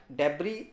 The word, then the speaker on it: debris: तो डेब्री का मतलब होता है कचरा, इसमें एस साइलेंट रहेगा, डेब्री पढ़ेंगे इसको हम।